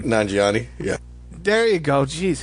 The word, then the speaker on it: Nanjiani: I don't know, Namangini? I don't know how to pronounce his last name. Nanjiani, yeah.